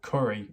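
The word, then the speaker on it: Currie: living in curry nevada now curry is spelt c-u-r-r-i-e not the other word where you eat curry okay so you understand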